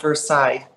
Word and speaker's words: Versailles: my YouTube channel is the real queen of Versailles okay everybody is the French way because I'm